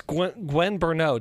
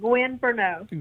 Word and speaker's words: Gwen Bernot: Yes, and it's Gwen Bernot. Did I pronounce that correctly? Yes, that's correct. Gwen Bernot.